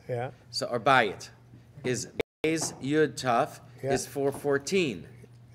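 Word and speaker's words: בית: Beis is never z. There's never a Zion sound. We pronounce it Beis, but it's Beis Yud Tuf.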